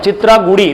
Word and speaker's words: चित्रागुड़ी: ये तमिल भाषा का नाम है, चित्रागुड़ी। रिपीट, चित्रागुड़ी। क्या नाम है इसका? चित्रागुड़ी। किस भाषा का शब्द है? तमिल का। तो ये अंग्रेजी के नाम में प्रोनाउंसिएशन लिखा हुआ आता है, तो उस पर आप फोकस मत कीजिए।